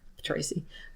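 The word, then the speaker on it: Ptraci: plot stuff, is that there's Tracy, spelled with a P, Tracy. Because in the Greek, they just say Ptu.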